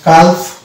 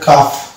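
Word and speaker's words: calf: তারপরে আছে next word এখানে যদি আমরা প্রত্যেকটা লেটারের উচ্চারণ ধরি তাহলে উচ্চারণ হওয়ার কথা ছিল কাল কিন্তু ডিয়ার স্টুডেন্টস সেটা হচ্ছে রং প্রোনাউন্সিয়েশন এটা কাভ হবে না এটা হবে কাভ কারণ এখানেও এল হচ্ছে একটা সাইলেন্ট লেটার এল থাকা সত্ত্বেও এল কে আমরা উচ্চারণ করবো না তো এল কেন এখানে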